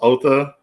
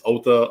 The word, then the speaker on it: Otho: along to cool coolest the name is pronounced ulta it's not the disseller but i don't care if people say my name wrong it's ulta o-t-h-o you can say author or ulta or you can just call me thank you i'm sorry